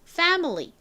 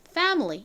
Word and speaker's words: family: 소리가납니다 그래서 가족 역시 패밀리가 아니라 실제 영어 발음은 family family 이렇게 센 발음이 난다라고 말씀드렸었죠 다음 g 역시